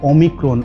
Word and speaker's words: Omicron: तो आप जब भी बार बार प्रोनाउंस कीजिएगा ओ माइक्रोन, ओ माइक्रोन, ओ माइक्रोन, तो ये बन जाएगा ओमिक्रॉन, ओमिक्रॉन, ओमिक्रॉन। इस तरह से प्रोनाउंस करके देखिएगा 4-5 बार, तो आपको ये सुनाई देगा साउंड ओ माइक्रोन, ओमिक्रॉन।